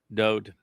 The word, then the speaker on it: Dode: that God ever conceived, Dode, who is known as David, even though Dode is the proper pronunciation of his name from the manuscripts and texts that bear his name that he himself wrote.